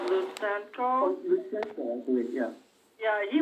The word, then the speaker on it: Lutsenko: Lutsenko, I believe, yeah.